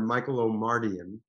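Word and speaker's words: Michael Omartian: that was the the record producer and songwriter michael o'mardian is how you pronounce his name brilliant man um asked me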